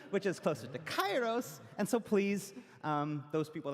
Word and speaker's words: Kairos: the Greek heritage that this is actually pronounced closer to Kairos, but we're using the ancient Greek pronunciation, which is closer to Kairos.